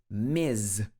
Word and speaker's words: Ms: misses missus okay and the next one is miz this has two pronunciations depending on the person and the situation both are correct so ms can refer